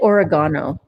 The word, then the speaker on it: oregano: I say oregano. I know that's how the Brits pronounce it, right?